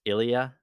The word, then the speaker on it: il y a: Is this pronounced Ilia? Yeah, that was good.